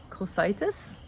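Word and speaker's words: Cocytus: to say this word they're on the river cositis c-o-c-y-t-u-s and that's the river of lamentation the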